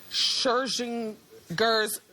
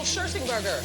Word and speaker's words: Scherzinger: I can't believe it's season 8 and you're still mispronouncing Nicole Scherzinger's name. Do you do it on purpose? No. I mean, I don't. But apparently I say your name incorrectly a lot. Look. Nicole Scherzingerger.